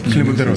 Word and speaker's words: Clenbuterol: A ver, voy a intentar pronunciarlo bien. Clenbuterol, ¿es correcto? Clenbuterol, sí.